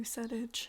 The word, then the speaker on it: PSEDIJ: Welcome to PSEDIJ. It stands for Pride Songs Every Day in June. The P is silent, because that's how the English language works.